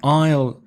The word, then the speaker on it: aisle: down the aisle now aisle a is le that's a silent s is Basile but is